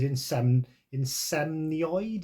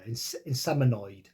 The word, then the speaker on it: Inseminoid: This is Insemnoid, is that how you say it? Yeah, Inseminoid. So yeah, like I said, some sort of sci-fi thriller, 1981.